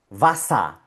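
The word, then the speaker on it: Wasser: Primera sílaba, va. Segunda sílaba y última, sa. Vasa. La E con la R está en la última sílaba, por lo tanto suena A. Vasa.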